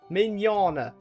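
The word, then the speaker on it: Mignogna: How do you spell how do you pronounce that again? Minana.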